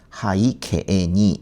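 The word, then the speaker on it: 背景に: 여기 이제 여기 KE가 되면은이 뒤에 부분이 장미 되어서이 발음이 나지 않고에 발음이 납니다. 그래서 요거는 하이케니 하이케에니 이렇게 발음하는게 좋아요.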